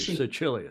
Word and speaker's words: Sicilia: C followed by an I is a CH sound. Thank you, Sicilia.